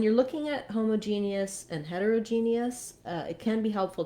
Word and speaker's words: heterogeneous: homogeneous and heterogeneous um you can hear how i did reduce that though that o becomes a schwa for both of these words for all three different